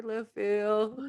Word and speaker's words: Littlefield: wrong like 17 times you just said it wrong then he said LaFleur went home the bill the field sorry Littlefield please comment our podcast